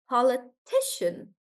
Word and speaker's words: politician: Even though the number of syllables is the same, the stress changes here. And now it is politician.